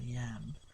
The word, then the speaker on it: iamb: Yam, I-M-B, or lamb? Nah, it's a yam.